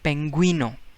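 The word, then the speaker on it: pingüino: is the word in spanish and we say penguino you is pronounced penguino because double dot is there now we got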